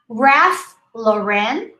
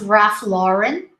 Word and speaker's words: Ralph Lauren: pronounce the d lint ralph lauren or sometimes ralph lauren both are okay remember the o o lauren and here judy don't